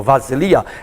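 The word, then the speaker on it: βασιλεία: Vasilia, a letra chamada beta, hoje é chamada de letra vilta, então ela dá só não de B, mas de V.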